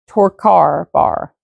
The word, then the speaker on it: Torkar Bar: This guy's name is spelled Torkar, and then his last name is Bar. You know, like the place where you go get your drinks. The bar. Torkar bar. It rhymes.